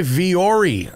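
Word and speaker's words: Vuori: brought to you by viori I love viori and it's spelled v-u-o-r-i it's not a very radio friendly brand to advertise is it because it sounds different than it is but viori is great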